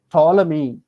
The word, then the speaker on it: Ptolemy: i i just now told you psychology ptolemy these all silent letters but we should write